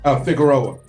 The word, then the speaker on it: Figueroa: That's pronounc Figareroa. Oh, Figueroa.